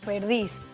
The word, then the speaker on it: perdiz: Recuerda que las palabras agudas son aquellas que tienen el acento prosódico en la última sílaba, como es el caso de jamón, perdiz.